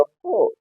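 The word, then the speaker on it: four: silent हो जाएगा और इसका राइट प्रोनंसिएशन क्या हो जाएगा फोर फो क्या हो गया फो इन द सेम वे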